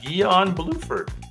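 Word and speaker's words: Guion Bluford: think you I think you pronounce his name gon guon GUI o n and his last name is blue for so that's a mouthful gon blueford gon there he is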